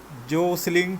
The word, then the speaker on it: jostling: जोसलिंग T silent है, टी नहीं पढ़ना।